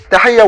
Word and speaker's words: Tahia: we know or tahiya let us say her name in the beginning like that tahaya when she was young